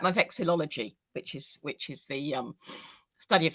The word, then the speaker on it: vexillology: Listen, let's wind back to that word you used, which unfortunately, when it goes past 2 syllables, I struggle. Flexitology. Vexillology.